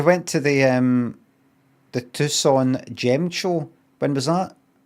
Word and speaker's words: Tucson: Ah look while our regular Crystal Wizard team was away at the Is it how do you say that? Tucon it's not it's not Tuxen Tucson. Is it Tucson? Oh, Tucson gem show.